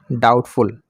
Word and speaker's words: doubtful: एक और एग्जांपल लेते हैं, DOUBTFUL, डाउटफुल, तो यहाँ पर बी साइलेंट रहेगा तो इसको पढ़ेंगे डाउटफुल, इसको पढ़ेंगे हम डाउटफुल।